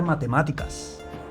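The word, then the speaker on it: מתמטיקה: Ella puede enseñar matemáticas. Yolá lelamed matemática. Esta palabra la pronunciamos igual que en español y la escribimos mem, tav, mem, tet, yud, kuf y hei yola.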